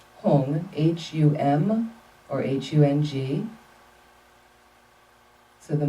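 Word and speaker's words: HUM: In the center is his seed syllable, Hung, H-U-M or H-U-N-G.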